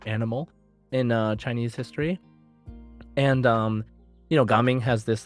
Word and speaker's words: Gaming: was hearing their pronunciation, it sounded like they were calling him Jaming. Oh, Jaming, right, that's right. They J- said Jaming, and I was like wondering why they localized it with a G, but it is what it is.